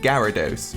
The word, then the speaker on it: Gyarados: and begin with for everyone out there it's pronounced gyarados Gallardo's you could literally just google this to